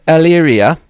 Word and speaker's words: Elyria: Now, you come from the small city of Elyria, Ohio. What type of a child... I think I pronounced it right. What type of a childhood did you experience there? You sure did. Yeah, I've been working at it. oh, my goodness. Just the fact that you pronounced it correctly is wonderful.